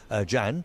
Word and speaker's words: Can: Jan. Okay, Jan. And how's your name spelled? Jan? C-A-N. Oh, it's C-A-N. This is a Turkish C. Okay, so C-A-N, but pronounced Jan.